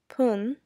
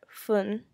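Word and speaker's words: 分: hours so minute um so a minute we say poon or fun depending on the numbers so if it's either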